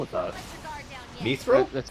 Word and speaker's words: mithril: Mithril? That's how it's pronounced. I can't wait to see you all safe I've and heard it both sound. ways. You did so wonderfully today. My thrill.